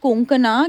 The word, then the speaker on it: कोंकणा: और आई am sure अगर आपको कोई पंजाबी मिले, वो हमेशा कंकना बोलेगा। कंकना, कोंकणा, क्यों साउथ में तो कणकणा नहीं भी बोले।